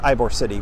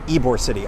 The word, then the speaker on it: Ybor City: ibor City pretty quickly sorry Ybor City I I noticed by the way and you probably did too that I right after talking about how I knew how to pronounce Ybor City said Ivor City in the preview episode so I apologize again